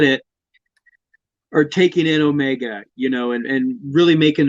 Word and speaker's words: Omega: voice but like accent omega or my name is omega no it's omega pronounce the word o mega there there's no no